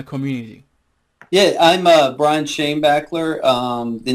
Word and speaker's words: Schoenbaechler: your last name because i think i didn't pronounce it correctly but go ahead introduce yourself to my community yeah i'm uh brian shane bachler um the name of uh my company's uh